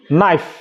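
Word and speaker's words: knife: এন আই এফ ই নাইফ নাইফ দেখো লাস্টে ই আছে এর উচ্চারণ হয়নি প্রথমে কে আছে কে এর উচ্চারণ হয়নি কে এন আই এফই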